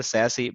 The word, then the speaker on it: SASE: just an idea which known as a Sassi pronounced as a Sassi but once the covid arrived in 2019 itself